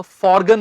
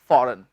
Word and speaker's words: foreign: फॉरेन, FOREIGN, हम फॉरगन नहीं बोलते। क्या बोलते हैं? फॉरेन।